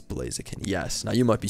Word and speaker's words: Blaziken: it rhymes i'm not even gonna take the rhymes with it's blazing people it's blaziken yes now you might be screaming right now